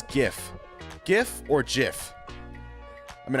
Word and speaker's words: GIF: This is one of the like few cases where the creator is wrong. It's GIF, not GIF. All right. It's GIF. Otherwise, it would have been spelled with a J.